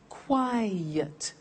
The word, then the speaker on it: quiet: look at another example quiet listen to that cry yet two syllables quiet another one's safe is